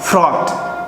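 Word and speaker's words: fraught: इसको देखिए आप स्पेलिंग तो जो है इसकी FRAUGST ये पूरी है, लेकिन आप इसको पढ़ेंगे तो इसका उच्चारण केवल क्या आता है, ऑट. क्या उच्चारण होता है इसका, ऑट. फ्रॉट, ऑट.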